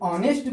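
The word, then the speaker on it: honest: हो, जैसे एन ऑनेस्ट, हम जब ऑनेस्ट बोलते हैं उच्चारण करते हैं तो एच साइलेंट हो जाता है, ऑनेस्ट बोलते हैं, एन ऑनेस्ट।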